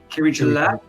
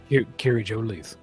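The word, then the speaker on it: Kiri-Jolith: Kiri Gillette? Kiri Jolith.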